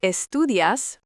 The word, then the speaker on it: estudias: The verb estudias, pronounced estudias, with that as ending, already tells you it's you.